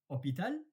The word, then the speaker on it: hôpital: Hôpital, it's hospital. And in English, you pronounce the H. Helicopter, host, hospital. And in French, you don't pronounce the H.